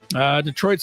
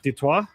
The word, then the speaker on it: Detroit: Detroit? 29? Yes. Am I going first? Yes. Detroit is pronounced, that's the French way, Detroit.